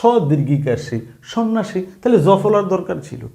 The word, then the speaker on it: সন্ন্যাসী: একইভাবে সন্ন্যাসী এই শব্দও কিন্তু জফলা কোন কাজ করে নাই। আপনি যদি দেখেন যেমন স নয়ন আকার সন্না স দীর্ঘিকাশী সন্ন্যাসী তাহলে জফলার দরকার ছিল কি?